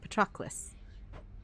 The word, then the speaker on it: Patroclus: Okay, Patroclus.